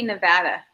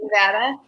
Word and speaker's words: Nevada: Speaking of state names, how do you say Nevada? Just Nevada. Is it Nevada or do you say Yeah. Nevada? Because I know people who say I say Nevada. You want to punch them in the face. Nevada.